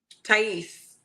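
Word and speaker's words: Thais: Tais.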